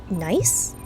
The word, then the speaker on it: gneiss: Scientists call it a Costa River gneiss? I assume the G is silent.